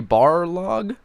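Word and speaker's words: Barlog: this is a quarry bar log I believe his name is pronounced I don't say Balrog because it sounds like the Lord of the Rings creature but you know it's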